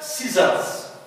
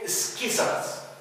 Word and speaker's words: scissors: and the word scissors. scissors مقص. we don't pronounce it sa or ka. we can say skissers. it's very difficult for the speaker. So the C is silent.